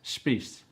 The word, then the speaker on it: Spies: Hi everyone, this is Michael Sanders on my Go See show, and today's lovely Go See is Spies, Yeah, that's actually pronounced Spies, Spies.